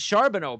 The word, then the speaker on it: Charbonnet: Zach Charbonnet, I believe it's pronounced. Charbonneau.